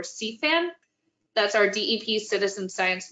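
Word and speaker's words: SEAFAN: southeast florida action network it's spelled s-e-a-f-a-n or c-fan that's our dep citizen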